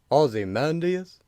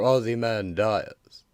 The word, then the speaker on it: Ozymandias: answer okay then so is it pronounced Ozymandias or Aussie man dies I've always wanted to know something wrong no no not at all in point of fact both are acceptable though I've always preferred Aussie man dies that sounds